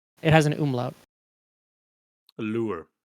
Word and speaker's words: lur: The word The word is lure. Lure. Mhm. Not lure. Not lure.